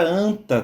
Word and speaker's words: anta: A palavra anta também utiliza 4 letras para ser escrita, porém, para ser pronunciada, eu apenas utilizo 3 fonemas, como está aí representado em símbolos fonéticos. Isso tudo acontece por conta do dígrafo AN. Lembrando que é dígrafo porque ele não é seguido de vogal.